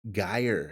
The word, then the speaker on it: Geier: Geier Geiers I think it's pronounced Geier. Geiers, rhymes with fire.